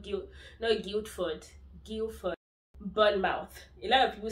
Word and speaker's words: Bournemouth: Bournemouth. A lot of people say pronounce it as mouth. It's Bournemouth. Bournemouth. Bournemouth. Not mouth. Not mouth.